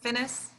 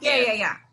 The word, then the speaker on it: Fiennes: What's the guy that Finnis? Who played him? Alfred Finnis. I'm not saying it right. Yeah, he did a good job. Somebody. Ralph Right. Fiennes.